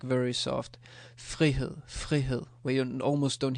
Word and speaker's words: frihed: So with the FR, it's a bit less. Frihed. And I can say it like very soft. Frihed, frihed, where you almost don't hear the sound.